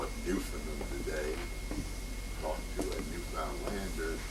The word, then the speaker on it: Newfoundland: We call it Newfoundland today. Talk to a Newfoundlander, he will promptly correct you and say it's Newfound Land. It's like understand. It rhymes with understand, pronounced the same way.